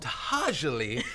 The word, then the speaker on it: To'hajiilee: It's called Tahajali, which I had to look up how to pronounce.